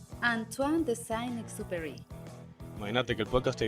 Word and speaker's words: Antoine de Saint-Exupéry: Nada más y nada menos que El Principito, del autor francés que se pronuncia Antoine de Saint-Exupéry.